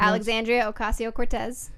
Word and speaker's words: Alexandria Ocasio-Cortez: Pronounced? Alexandria Ocasio-Cortez.